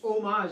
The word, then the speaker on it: homage: homage to history and fiction homage I think the age is silent you've been a little